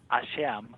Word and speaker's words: Hashem: One of the words is pronounced Hashem, like Hashem in Hebrew, which is a word that's substituted for in place of the name of God in written.